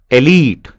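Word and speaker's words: elite: Irritant, एलीट, एलाइट नहीं होता है, एलीट होता है.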